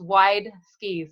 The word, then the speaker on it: Wideski: It's phonetically it's Wideski, so it's WIDESKI.